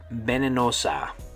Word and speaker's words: venenosa: Okay, venenosa, venenosa, or venenoso. It sounds kind of like Venezuela.